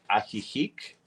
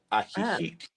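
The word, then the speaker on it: Ajijic: It's called Aihik. The pronunciation is a h i h i c, but the spelling is a j i j i c. Aihik.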